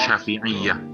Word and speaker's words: Syafi'iyah: Cara bacanya Syafi'iyah.